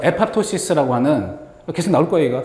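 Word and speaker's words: apoptosis: 일본 애들 왜 말이 좀 이상하게 발음 말해가지고 그게 그대로 들어와서 아포토시스 이렇게. 근데 영어로 발음은 에팝토시스 다 P를 다 발음하는 게 맞는 것 같은데 어쨌든 이게 자 다시 한번 세포 자살.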